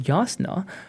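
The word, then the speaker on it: Jasnah: So if if the something that is spelled as jasna can be pronounced as yasna then I'm go and I do this while I'm reading.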